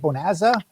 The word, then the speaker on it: Bonazza: Is that how you say it, Bonazza? Yeah.